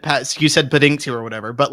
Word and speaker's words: Paddington: now, he mispronounced Paddington and he said Pendington.